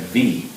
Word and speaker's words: Vi: We asked what her name was, and they said V, spelled V-I, pronounced V, and V is a Samoan fruit that the best description is it's like a very small, very hard apple.